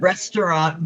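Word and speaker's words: ресторан: Yeah, you pronounce it restaurant, but it's spelled pectop.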